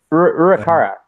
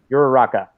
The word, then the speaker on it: Uraraka: Urakara. I know next to Okay, there it is. How do you pronounce that? Uraraka? Uraraka. Yeah. That's right.